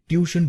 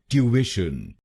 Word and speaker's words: tuition: भारत में मैंने शायद सबको ये शब्द ट्यूशन बोलते हुए सुना है। ट्यूशन। आइए सीखते हैं इसकी सही प्रोनाउंसिएशन। इस शब्द को दो तरह से प्रोनाउंस कर सकते हैं। पहले सीखते हैं ब्रिटिश इंग्लिश, क्योंकि भारत में हम ब्रिटिश इंग्लिश फॉलो करते हैं। तो ब्रिटिश इंग्लिश में इसको बोलेंगे ट्यूविशन। ट्यूविशन।